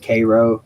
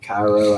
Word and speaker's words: Cairo: pronouncing that wrong - it's pronounced Cairo like the syrup I pronounced it Cairo I think I apologies